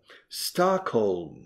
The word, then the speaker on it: Stockholm: Stockholm. Fijaos en la pronunciación. Stockholm. Y la L suena. Stockholm.